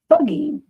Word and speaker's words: Fugging: In 2021, the town name officially changed its name to Fugging, It's spelled Fugging, which is actually how you pronounce effing in the local dialect in the first place.